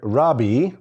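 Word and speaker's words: רבי: what is a rabbi rabbi is the English pronunciation of a Hebrew word Rabi which is actually kind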